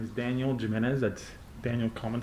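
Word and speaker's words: Gimenez: properly would you please say your name and spell it for the record my name is daniel jimenez that's daniel common spelling jimenez is g as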